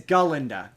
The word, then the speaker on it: Galinda: with her name's not Glenda her name is galinda she constantly corrects people my name is galinda